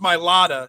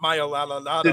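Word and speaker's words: Mailata: right well you're wrong it's my lada not my la la la mispronounced i'm not good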